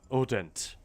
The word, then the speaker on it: Hodent: I'm talking more about there's a French psychologist called Celia Audent. It's spelled Hodent, but I guess the French don't pronounce the H.